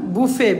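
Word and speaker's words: buffet: কমিমরে দুইটা এম কমিটিতেও দুইটা M Nusrat Jahan বুফে বি U double এফইটি হবে। বুফে স্পেলিং টি হবে কিন্তু টিটা সাইলেন্ট। টি এর উচ্চারণ হবে না।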